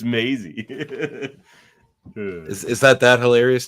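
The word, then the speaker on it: Maisie: Mazy I just said Mazy then correct it rain because mazy's the actor or Maisy no it's Maisy is is that that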